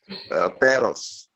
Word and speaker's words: perros: In Spanish, we have the double R, perra, perra.